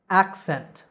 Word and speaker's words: accent: a double c that double c acts like k s so we say access accent in both of these words the stress is on the first syllable in the next two